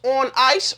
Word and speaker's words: Onnais: The company is pronounced on ice.